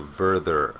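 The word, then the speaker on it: Werther: became known as the vther effect it's spelled w e r t h e r but in German every W is pronounced like V and every V is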